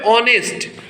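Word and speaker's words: honest: लेकिन यहाँ पे ऑनेस्ट लगा तो एच था, लेकिन एच साइलेंट है, और जब साउंड आ रहा है तो ये कॉन्सोनेंट साउंड ना आकर के ये वॉवेल साउंड आ रहा है, ऑनेस्ट।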